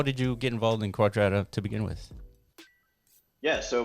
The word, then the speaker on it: Quadrata: But Quadrata is like quadratic, right?